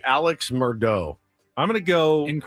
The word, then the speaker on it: Murdaugh: I That seemed if it's mispronounced, I'm going to go with Alex Murdaugh. Close. Murdaugh? Mur Mur It's Murdaugh. That's what I said. Murdaugh.